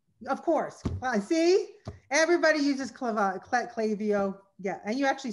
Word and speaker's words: Klaviyo: See, everybody uses Klaviyo.